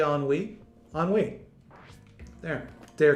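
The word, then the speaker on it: ennui: word on we i dare you to say on we on we there they are completed that's how the word is pronounced spelled e-n-n-u-i on wii means despair is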